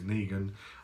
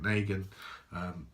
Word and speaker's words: Negan: I've decided to start calling him what everyone else calls him, which is Negan. I was pronouncing it Negan, but so we've got